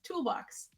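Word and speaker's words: TL-80X: a shapeshifting Android um named unit tl- 80x or pronounced toolbox and I'm very excited oh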